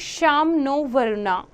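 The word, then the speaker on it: शं नो वरुणः: Interesting fact you have to know, the emblem of the Indian Navy contains the motto that is Sam no Varuna, pronounced Sham no Varuna, which means be auspicious to us, O Varuna.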